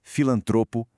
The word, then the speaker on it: filantropo: O jeito certo de falar é asvaru, filantropo, ibero e claro, voltando lá na nossa primeira pergunta, recorde, em todas elas, sem exceção, a força tá na penúltima sílaba.